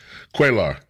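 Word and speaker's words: Cuellar: Vicente Gonzalez, Henry um I I use I just I always mispronounce his name. I call him cellular but that's not his name. Quaar Henry Quaar Lloyd Dogget is another one and Greg Cesar.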